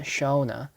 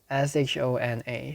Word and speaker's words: Shona: about her friend shana not sana from twice but shona s-h-o-n-a shana let's confirm its pronunciation shona shona uh we'll stick to